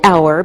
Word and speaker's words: hour: We say an hour because we don't pronounce the H, so it sounds like a vowel sound.